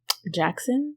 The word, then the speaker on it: Jaxn: take before you knew that's how you pronounced it jackson yeah it's j-a-x-n like i it took